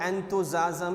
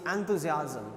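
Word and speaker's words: enthusiasm: She dance with एंथुजियाज्म, the word is नॉट एंथुजियाज्म, इज एंथुजियाज्म, एंथुजियाज्म।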